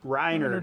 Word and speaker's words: Rynerd: you definitely recognize R am I saying your name wrong rinard rinard yeah rinard all right uh and they but